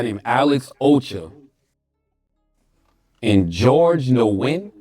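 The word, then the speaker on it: Nguyen: Win is the closest.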